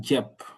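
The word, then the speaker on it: cep: Donc, J, J, c'est comme dans budget. Donc, on va donner encore des exemples. Ici, on a Jep.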